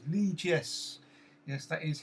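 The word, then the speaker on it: Lichess: That's what Apollo says, because it's a French expression and therefore pronounced differently.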